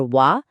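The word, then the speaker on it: は: এখানে ওয়া পার্টিকেলটা দেখছেন তো? এটা হীরাগানায় লেখা হয় হা। কিন্তু বাক্যে যখন পার্টিকেল হিসেবে বসবে তখন এর উচ্চারণ 100 ভাগ ওয়া হতে হবে।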